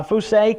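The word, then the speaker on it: φύσει: word comes in the greek word uh p-h-u-s-e-i how we would spell it in english language uh fousay can denote something which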